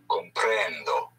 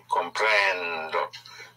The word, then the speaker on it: comprendo: The O is pronounced O like in obey. So, comprender, to understand, I understand would be comprendo. Comprendo.